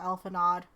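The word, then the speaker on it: Alphinaud: Okay, apparently that D is fucking silent. I'm not gonna say it properly, ever, Alphanod.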